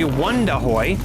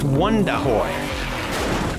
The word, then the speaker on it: Wondahoy: It's actually Wondahoy. Looks like Wonder, but it's pronounced Wondahoy.